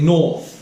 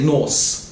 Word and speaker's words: North: the TH sound, okay North, South, alright, be careful not to say NorSSS SouSSS, it doesn't quite make sense alright, yeah so we